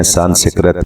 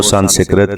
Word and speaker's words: سنسکرت: ہم استعمال کرتے ہیں، سنسکرت۔ تم تو سنسکرت کی باتیں کر رہے ہو، جبکہ یہ درست تلفظ ہے سنسکرت۔ سنسکرت یہ اس کے